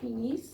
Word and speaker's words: finissent: Finissent. finissent, Finissent. E. T. bravo. C'est important parce que François, il a travaillé ça avec vous beaucoup, hein. Ok? Se prononce la S, I, N, finissent.